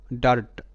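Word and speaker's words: dirt: টি এটার উচ্চারণ কিন্তু ডার্ট ডার্টটা ঠিক আছে ডি এর জন্য ড দেখো ডি এর জন্য ড আর আই এর উচ্চারণটা আ সর আ সর আ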